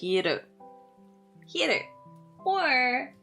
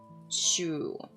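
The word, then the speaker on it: 昼: Uh daytime is pronounced as her or sometimes also shu.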